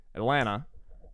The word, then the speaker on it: Atlanta: If you're from the South, you would say Atlanta, kind of like with the T sort of underemphasized.